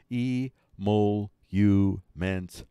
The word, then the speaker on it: emoluments: pronunciation these are the trending topics folks the pronunciation of a monuments Klaus is e mole you man's cloths there you go and monuments Klaus the